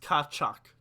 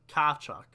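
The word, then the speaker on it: Tkachuk: It's pronounced Kachuk. Kachuk. Kachuk.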